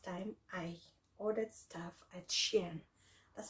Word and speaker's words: SHEIN: for the first time i ordered stuff at sheen that's how you pronounce it yeah i ordered some stuff and